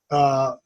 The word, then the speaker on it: Thule: Well, Greenland is good because of the fact that that's where we have, I can never remember the name, how to pronounce it, Thule, Thule.